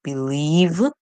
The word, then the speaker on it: believe: would sorry with v you would hardly find English words that ends with the letter V right so always know when you have the letter V or J that there is e silent e that's going to follow them because hardly would you find words in English that ends with v or the letter J so our word is